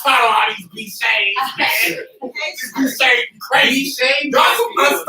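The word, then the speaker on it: bicce: It was first pronounced B-Shay, and it was B-I-C-C-E.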